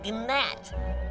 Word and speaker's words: gnat: me you are a gnat there's a g silent it's not are you